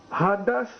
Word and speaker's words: Hades: in the greek is the word hades transliteration hades uh pronunciation hadas proper locative noun um here's the definition one